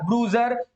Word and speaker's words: bruiser: वहां अकेला था तो शायद एक ब्रूसियर, अगर तुम्हें ये वर्ड याद हो जाए ना, इसको बोलते हैं ब्रूजर, इसका प्रोनाउंस होता है ब्रूजर, BRUISER, ब्रूजर, ब्रूजर, ब्रूजर, strong boy,